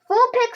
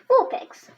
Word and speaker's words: Vulpix: How to say it? Wool, picks. Vulpix. Myrtle height 200, metric height 0.6 meters.